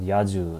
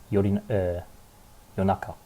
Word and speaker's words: 夜中: For example, yaju, it's not yaju, it's yonaka. Yonaka was it.